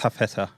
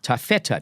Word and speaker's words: Tafeta: Is that the way it's pronounced? Tafeta. Tafeta, t a f e t a, a private